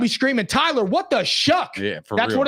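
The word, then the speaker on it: Shough: Go rolling out there with Tyler Shuck or Tyler Show, however you say his name. Shuck.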